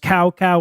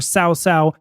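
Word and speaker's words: Cao Cao: was a general named chowchow you'll you'll occasionally hear it pronounced Cowa or SAA but I'm going to call it chowchow because that's the cutest of the translations that I found um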